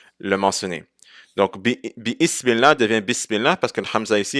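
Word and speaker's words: بسم الله: So, on ne va pas dire bi-ismillah. on dit Bismillah, parce que le bi est en train de venir avant la hamd al-wasl, et la hamd al-wasl ne va pas être prononcée si quelque chose le précède, donc ça va être Bismillah et pas Bi-Ismillah.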